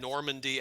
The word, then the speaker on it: Normandy: Normandy, as in like the location in Normandy France.